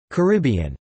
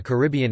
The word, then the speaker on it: Caribbean: common pronunciation in the Caribbean itself, but according to the Dictionary of Caribbean English Usage, the most common pronunciation in Caribbean English is in fact on the first syllable, car, bn.